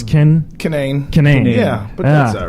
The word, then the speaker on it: Kinane: Did I say it right? No. It's Kinane.